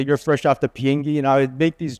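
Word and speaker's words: 비행기: So in Korean, airplane means, it's pronounced biengi. There's a biot symbol. So when I said fob, it's not fresh off the boat. I would say, you're fresh off the biengi.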